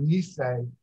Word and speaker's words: Nisei: The Japanese use the term, it's spelled I-S-S-E-I, pronounced Issei, to denote a first generation immigrant, and Nikkei or Nisei for the second generation descendants.